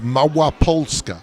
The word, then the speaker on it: Małopolska: so the region that we're in is called Mawa pska when we were in Lodge we were actually